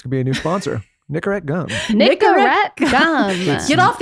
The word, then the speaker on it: Nicorette: Wait, how do you say it? Did I say it right? Nicorette. Yeah.